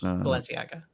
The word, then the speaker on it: Balenciaga: was making people thirsty valenciaga balena have no idea that is the correct pronunciation yes Balenciaga Balenciaga what what' that be